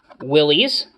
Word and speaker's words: Willys: of them they are the jeep willys which is the correct pronunciation uh it's in a